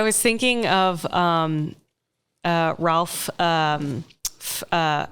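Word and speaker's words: Ralph Fiennes: thinking of um uh Ralph um uh how do you say it fines oh Rafe fines yeah yeah in uh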